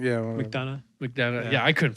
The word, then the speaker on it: McDonough: Neil McDowell. Yeah. McDonough. McDonough. Yeah. Yeah, I couldn't fucking remember how to pronounce it, but I Yeah.